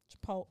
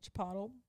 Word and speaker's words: Chipotle: Chipotle hay did that which I Now Pronounce correctly chipot Chipotle mhm chipot that's what old people say oh this is